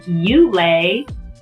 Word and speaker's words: Ulay: we were first married, that brand in the UK was still called Ulay, and it was spelled U-L-A-Y.